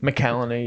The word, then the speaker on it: McCallany: And even excuse me if my pronunciation is off, but Holt McCallany. McCallany, yeah.